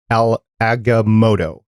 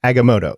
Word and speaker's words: Agamotto: change the past and i butchered al aggamoto agamoto okay there we go eye of agamotto in a dangerous effort